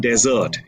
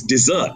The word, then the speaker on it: dessert: and saying I want desert it's not desert it's dessert so when you're eating ice cream or chocolate or something sweet at the end it's called dessert similarly when people try